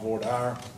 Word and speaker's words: voir dire: do here is called voir dire or dear some people pronounce it one way something for Democrats of another which is a bunch